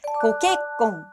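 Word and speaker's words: ご結婚: 결혼은 고케꽁, 고케꽁이라고 읽어요. 원래 결혼 자체가 객꽁, 객꽁이라고 읽는데 앞에 고를 붙였어요.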